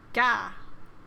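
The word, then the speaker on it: が: The G sound is always pronounced like a hard G. Don't be to pronounce it like a J.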